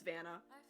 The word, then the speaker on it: Vanna: Some people say Vanna. It's Vanna. You'll figure out why it's Vanna later. And not Hannah or Vanna.